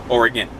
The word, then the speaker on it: Oregon: or it gone now it's spelled like it looks like Oregon but my entire life living right next door to it in California or again but anyway yet 1,100